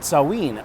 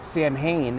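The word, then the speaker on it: Samhain: butcher their names but saween or Sam Hayne as you might have seen uh is today nowish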